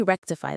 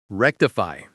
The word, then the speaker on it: rectify: Let me rectify that for you immediately." They are taking ownership of the problem and promising to fix it. Rectify. Rectify. Stress on the first syllable.